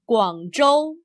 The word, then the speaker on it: Guangzhou: name of the city z h is pronounced much like the English J Joe remember the name Guangzhou the first part of